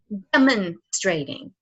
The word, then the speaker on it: demonstrating: So it'd be demonstrating, demonstrating. So the first syllable is the stress, and the second stress is not the second syllable; it's the third syllable.